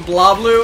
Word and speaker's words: BlazBlue: This is one of those weird things where, like, it's actually, like, I don't think you're supposed to pronounce the Z. Oh, is it BlazBlue?